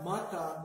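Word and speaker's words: mahta: and muncie english part of that and my mata means no m-a-h-t-a mata means no or ma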